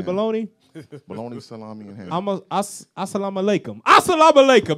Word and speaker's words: Assalamu alaikum: Assalamu alaikum. That's how you say it.